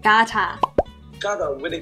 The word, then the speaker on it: Qatar: I'm not sure how it's pronounced. Like Qatar.